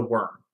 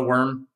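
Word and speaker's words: wyrm: land um and this being was called the worm it's theorized that there's probably more than just one there's probably lots of like other worms that exist but like this one uh we just call it the worm because we only ever see like one in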